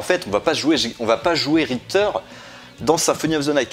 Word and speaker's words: Richter: Ça se prononce Richter, ouais.